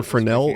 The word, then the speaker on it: Fresnel: Also, Fresnel is it's pronounced Fresnel when it's Fresnel.